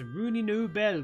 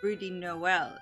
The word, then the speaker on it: Rudy Noel: that's gotta be this Rooney New Bell character that boss keeps an eye out for. It's actually pronounced Rudy Noel, if you don't mind. You know, like a lazy Christmas reference?